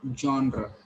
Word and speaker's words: genre: You have to pronounce it genre.